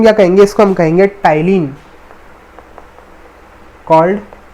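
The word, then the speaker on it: ptyalin: कहेंगे इसको हम कहेंगे टाइलिन कॉल्ड टाइलिन ठीक है भाई य पर प जो है साइलेंट है तो इसको सि टाइलिन कहेंगे या फिर टाइलिन पसंद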